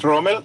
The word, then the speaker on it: Romel: and yeah wonderful excellent and romel is that who you pronounce it yes of course my name is romel i am from venezuela